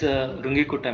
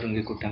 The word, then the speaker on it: Runge-Kutta: All of you put this heading, method 5, fourth order how do you pronounce this? Can you tell me? Phonetics. Okay, so I used to call it as Runge-Kutta method.